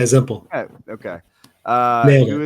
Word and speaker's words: Zempel: Is that Zempel, or is that how you pronounce it? Yeah, Zempel.